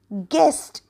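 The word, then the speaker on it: guest: letter U पुढचं बघूयात जी यु इ एस टी गेस्ट म्हणजे पाहुणे ठीक आहे किंवा अतिथी आले पाहुणे आले आणि इथे सायलेंट लेटर आहे यु पुढचं बघूयात एस डब्ल्यू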